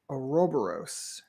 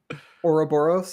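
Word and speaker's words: ouroboros: a pass on that you can't say whatever the you just said oroboros is how you say it yeah I believe did you say aobos yeah it's the same syllable just accented differently Li anyway um so this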